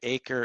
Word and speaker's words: AiCRE: the acre branding and acre is spelled a-i-c-r-e um and there's a